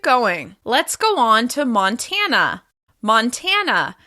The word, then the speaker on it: Montana: Let's go on to Montana. Montana. Montana is stressed on the second syllable.